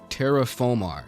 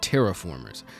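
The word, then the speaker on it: Terra Formars: I get to the very end of the video and finally realize that it's pronounced terraform, not terraformers. I was thinking of Transformers this whole time.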